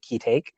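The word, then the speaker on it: Ki-taek: Like there was a bit, I think, when the father's name is Kitake, I believe it's pronounced Kitake.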